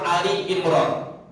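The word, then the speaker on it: آل عمران: Salah satunya adal surah Ali Imran seringki ada di antara kita yang kadang kalala membacanya alimr p yang benar adalah Ali imr beda dengan Albaqarah Alfatihah Anas dan sebagainya ini adalah Ali Imran keluarga Imran kalau kita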